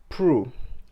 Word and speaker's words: Proulx: His name is David Prue. David Prue. The Prue is actually pronounced is actually spelled Proulx, which was quite fascinating when I had to research how to pronounce his name.